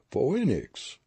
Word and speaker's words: phoenix: be a queer sort of word mr world phoenix is it a man's name i don't know phoenix pronounced mr world grinning flannery was writing carefully